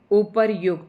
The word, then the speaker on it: उपर्युक्त: अब आता है उपयुक्त या उपर्युक्त। यह जो है शब्द इसको हम उच्चारित करेंगे। उपर्युक्त।